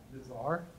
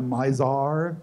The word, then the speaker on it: Mizar: called it them what's how do you pronounce m i z a mizar not the misar mizar mizar the misar which is the star in the handle of the Big Dipper not a very good